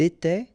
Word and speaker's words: était: Remember, final S, here, here, final T, and then here, E-N-T. You don't pronounce them.